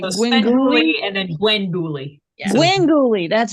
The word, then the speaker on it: Gwengoolie: Pronounce it for me. I know Svengoolie, but it's like Svengoolie and then Gwengoolie. Yeah. Gwengoolie, that's right.